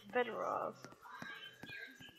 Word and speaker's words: Fedorov: for some fedora ammo for my beautiful, beautiful gun, but... It's actually Fedorov. Said it wrong, but still, who cares?